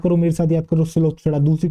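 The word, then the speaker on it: Psilopsida: बेटा पी इसके अंदर साइलेंट है, पिलोप्सिडा नहीं, दैट इज सिलोप्सिडा। क्या नाम है बेटा, पहली क्लास का नाम है बेटा आपकी सिलोप्सिडा। सिलोप्सिडा पी जो है साइलेंट है।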